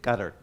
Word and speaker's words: Qatar: of the imagination, but it's more like Qatar. Okay, Qatar. So the tongue goes behind the roof, behind the teeth, your upper teeth, Qatar.